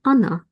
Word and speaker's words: она: You probably hear that I pronounce the sound a here because these letters o are unstressed. We pronounce them as a short a. Он, она, оно.